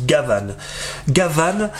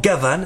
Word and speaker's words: Gavan: petites anecdotes et finalement Gavan et bien c'est la façon de prononcer Jean Gabin Gabon en japonais qui était très populaire